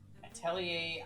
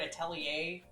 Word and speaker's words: atelier: the characters in Atelier don't pronounce the word atelier like, you know, the French word atelier. They say like an atelier or something.